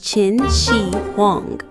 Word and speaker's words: Qin Shi Huang: We remember Chin Xi Huang, pronounced as Chin Xi Huang, the first emperor of a unified China.